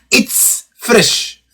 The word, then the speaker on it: ItzFresh: a little bit difficult it's fresh it's fresh so basically it's spelled zed fresh so again it's fresh